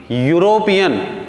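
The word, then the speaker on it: European: अब यहाँ ध्यान रखें, स्पेलिंग में भले ई यू लिखा पर इसका साउंड यूरोपियन या यूरोपियन नहीं बल्कि यूरोपियन। यूरोपियन means the sound is ऑफ Y. Hindi में कहें तो यहाँ या का साउंड आ रहा है, तो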